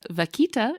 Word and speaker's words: vaquita: Oh, like vodka. But vakita.